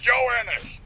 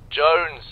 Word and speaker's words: Jones: Joe Innes. It's almost Christmas, though. Joe Innes, where the hell are you? Sir, for the millionth time, my name is pronounced Jones. Jones.